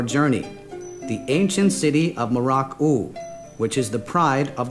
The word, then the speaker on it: Mrauk-U: Mrauk-U Mrauk-U is located on the left bank of the Ongdat Shuang River, which is also known as Miao-U, which is the Arakanese pronunciation.